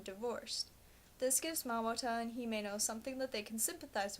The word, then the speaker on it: Himeno: does bother me is in the English dub they pronounce himeno's name himino but if my Japanese lessons have taught me anything it's that all vowels keep their sounds No Matter What word they're in her name should be pronounced himeno not himino they pronounce Sheen as